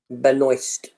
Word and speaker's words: Benoist: How do you pronounce that? Benoist.